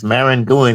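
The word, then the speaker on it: Maringouin: Yeah, so I it's think that's how you Marangoon.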